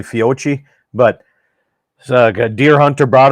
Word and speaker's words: Fiocchi: Is that how you pronounce it? I think it's Fiocchi actually, but yeah, that stuff.